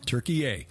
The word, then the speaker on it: Türkiye: The people of Turkey now say they would prefer Turkey yay. Just think Thanksgiving dinner, turkey yay, and but don't. Don't spell it that way. Don't spell it that way. You have to have a little umlaut over the U, yes.